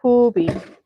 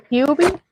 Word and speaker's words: Huie: Uh, Hubie. Not Hubie. Huie. It's Hubie.